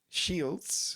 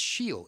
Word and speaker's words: Sheil: Shields. Nah, see? You mispronounced it and now try and spell it. S-H-I. No, again wrong. So you can't spell it and you can't say it. Right. So someone said to Dad, Yeah. you should change your name. And because nobody could spell it, nobody could say it. It's Sheil, S-H-E-I-L.